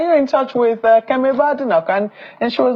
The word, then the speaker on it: Badenoch: Yeah, Badenoch is how how her surname is pronounced.